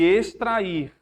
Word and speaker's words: extrair: Expor, expor e extrair. Expor e extrair. São igual ou diferente? Expor e extrair. É como se fosse S, né?